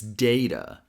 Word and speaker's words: data: Now, the difference from version one to version two is the first syllable. Version one, da sounds like day, which rhymes with hey, so it's data. In version two, da sounds like da. The same a sound we have in cat.